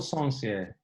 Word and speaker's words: Sencier: Sencier, Sencier. Sencier. Sounds very posh, very French.